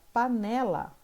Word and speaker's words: panela: Na palavra panela, o né é a penúltima sílaba.